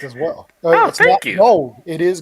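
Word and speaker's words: Gould: was like what is he doing there did pronounce that correct as well gold it is g g yes so when he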